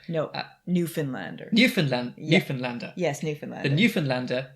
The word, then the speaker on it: Newfoundlander: this article from, I'm going to try and pronounce it correctly, the Newfoundlander. Yes, good job, Paul. Fantastic. You've almost got to my Canadian pronunciation level. Got the Canadian approval there. Newfoundlander. No, Newfoundlander.